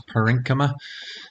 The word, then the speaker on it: parenchyma: tissues i'd say that are found within plants parenchyma is how you pronounce that and then these little fibers as